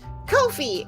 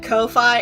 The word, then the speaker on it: Ko-fi: Part of the marketing material for Ko-fi that they say a lot of the time is Ko-fi, it rhymes with no fee.